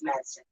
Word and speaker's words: Madsen: No, it's Madsen.